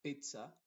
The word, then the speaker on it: pizza: excepto en la palabra Pizza donde no se dice Pizza sino que se dice pizza y mozzarella mozzarella te das cuenta ahí se dice con una t y una s mozzarella y pizza y